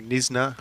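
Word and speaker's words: Knysna: Watching from Nisna, South Africa. I checked that pronunciation the other day. Yeah. Googled it. Well played. Don't think I would have got that. Well, the K silent by all accounts.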